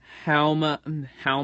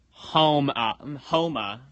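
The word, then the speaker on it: Houma: Halma, Louisiana. Alright. And Barnstaple, Devon. Oh, pronounced like Homa.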